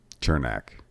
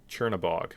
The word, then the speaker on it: Chernabog: Did not pronounce Chernabog. Sure. What did I say? Chernak. Oh, Chernabog.